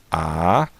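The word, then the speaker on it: אדם: Lembrando que essa consoante aqui é muda, então a gente só pronuncia aqui a vogal embaixo. Então pronunciando fica Adam, ok?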